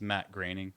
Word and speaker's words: Groening: I knew I was mispronouncing it from the second I said it. It's Matt Groening.